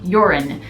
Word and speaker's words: Jorunn: foundation in the shade Jorunn, which is spelled Jorunn. And I looked up how to pronounce it and it sounded like they were saying Jorunn. Not urine, but Jorunn.